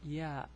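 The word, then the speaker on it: ي: alphabet, which is the ya. Okay, so the name of the letter is ya, ya, and the pronunciation is ya. It's similar to the Y in English.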